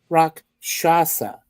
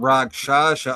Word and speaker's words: Rakshasa: This is Rakshasa. I wanted to make sure I pronounced it correctly. Rakshasa.